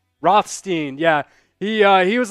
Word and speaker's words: Rothstein: for a second question but was it John Rosenstein is that how you pronounce his name Rothstein yeah he uh he was like nope don't